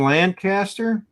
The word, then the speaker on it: Lancaster: Oh yeah, around Lancaster. It's Lancaster. It's amazing. There's like a train museum and Lancaster's in England. I get yelled at when I pronounce it like that.